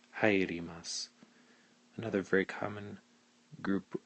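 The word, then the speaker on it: 入ります: step to the ri, and you'd pronounce it hairimasu.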